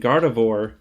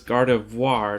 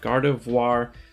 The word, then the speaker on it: Gardevoir: gardevoir i've been saying gardevoir uh like all time it's like not horrible pronunciation but it's gardevoir not god of war so checked with the